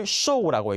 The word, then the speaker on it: 售: 앞에 있는 이 글자를 show라고 읽습니다.